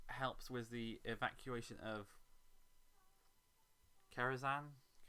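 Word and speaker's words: Kerenza: It helps with the evacuation of Karazhan 4. That's how it's pronounced.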